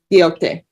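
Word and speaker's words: Quijote: I want to say Kijoto or Joti, Q-U-I-J-O-T-E. And I look to my left. Quixote.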